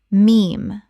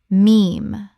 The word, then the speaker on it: meme: Meme. Common mispronunciation. Mem or Mimi. Correct pronunciation. Meme. One syllable that rhymes with team.